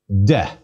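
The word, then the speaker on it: δέ: Delta, epsilon. Please give it a try. De. Again, de. The epsilon is short.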